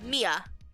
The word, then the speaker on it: Mia: No, it's Mia.